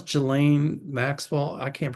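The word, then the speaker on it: Ghislaine: Uh, what's how you pronounce Gelain Maxwell? I can't pronounce her name. Just lane.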